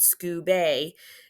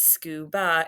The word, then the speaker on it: scuba: Now, scu has a long U. That's a regular open syllable. But ba, it's not scuba. This is scuba. It's that schwa open syllable exception there.